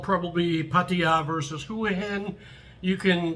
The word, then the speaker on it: Hua Hin: And the other is Hua Hin, which some people say Hua Hin because it looks like the Chinese word Hua, but it's Hua Hin.